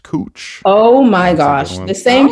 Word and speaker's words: Couch: Like, was anyone like Just so you know, the street that's spelled like couch, it's actually pronounced cooch.